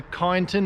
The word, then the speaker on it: Kyneton: from AUTOWORKS up in KYNETON, or KYNETON as people say it, but it's KYN, so KYNETON, that's how I'm going to say it.